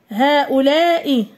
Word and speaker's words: هؤلاء: هؤلاء، هؤلاء. دائما كنتبه لكتابة أسماء الإشارة. هناك ألف تكتب، تحذف رسما وتثبت نطقا.